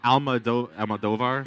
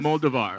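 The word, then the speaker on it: Almodóvar: Almodovar? Yeah. Yeah. Antonio Banderas. Moldovar. Right? That's how you pronounce it.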